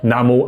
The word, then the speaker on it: Namo: 开头我们说的南无阿弥陀佛，梵语念作 Namo Amitabha。